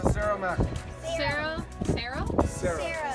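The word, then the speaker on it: Cero: Sarah. C-E-R-O. Oh, zero. Sarah. Sarah Mac. Like how they say it in Spanish.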